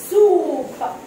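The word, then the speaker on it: soap: دي وخدنا الكلمه دي تعالوا نشوف الفرق في النطق ما بين الكلمتين دول ها شرفه دي شرفه دي صابون دي اسمها سوب سوب دي صوب صوب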